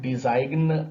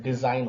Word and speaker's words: design: यहां पर देखिए जी साइलेंट है, DESIGN। इसमें डिजाइन ऐसा नहीं होता है, डिजाइन होता है, रिजाइन होता है, साइन होता है, लेंथ होता है, लेंथ नहीं होता है।